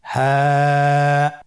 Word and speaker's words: হা: হা হরফটি উচ্চারণ ক্ষেত্রে অবশ্যই বারিক হবে এবং 1 আলিফ টেনে পড়তে হবে। আপনারা আমার সাথে বলুন হ্যাঁ।